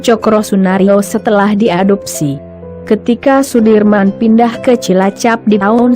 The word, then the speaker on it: Soedirman: dalam memperjuangkan kemerdekaan Indonesia Jenderal besar Soedirman menurut ejaan soewandi dibaca Sudirman Ia merupakan salah satu orang